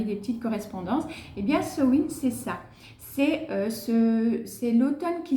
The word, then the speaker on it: Samhain: Donc ça s'écrit Samhain, mais ça se prononce Samhain.